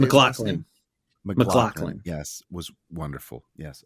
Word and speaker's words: MacLachlan: But yeah, Kyle MacLachlan, how do you say MacLachlan?